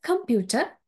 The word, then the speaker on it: computer: And the word computer, computer. So here, the primary stress is on pew, and also com and ter are weak stress.